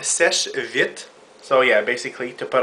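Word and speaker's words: Seche Vite: to uh buy her the svit that's how you say it people not S V not svit not uh S V none of that nonsense it's called SES vit so yeah basically to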